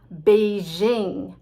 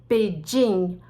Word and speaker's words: Beijing: the capital of china beijing i know it's supposed to be like the chinese say it beijing but nobody says beijing we say beijing sounds a little exotic and respectful and i don't think